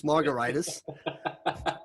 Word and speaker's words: Margaritis: I've told you J my last name is pronounced like a cocktail but it's really spelled like an inflammation it's like it should be like gingivitis you know hepatitis laryngitis margaritas but where's the fun there so we've always tried to we've always tried to pronounce it in a fun way yeah cocktail right so